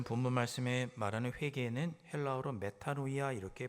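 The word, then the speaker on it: μετάνοια: 매운 거는 오늘 본문 말씀에 말하는 회개는 헬라어로 메타노이아 이렇게 발음합니다.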